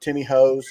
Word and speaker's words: Timmy Ho's: and i'm a big i'll say it timmy hoes because that's how it's said in canada i'm a big timmy